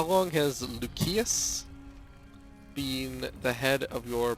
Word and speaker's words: Lucius: Every single other C here is pronounced as a hard C, but of course Lucius is not.